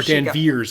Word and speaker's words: Danvers: But then he sees a picture of Captain Marvel as Carol Danvers back before... Or Danvers, as they would like us to pronounce it.